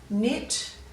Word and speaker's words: knit: and spell them so we're going to go knit we're not going to pronounce that cut sound and then we go